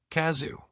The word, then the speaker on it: Cazzu: Kazoo. It's short, sharp, a phonetic jab that lands with a thud. Chzu, those hard C and buzzing double Z sounds sticking in your ear like a rogue guitar riff.